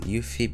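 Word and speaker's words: UEFI: motherboard to the latest UV we're going to pronounce it ufe because that's how Google site is pronounced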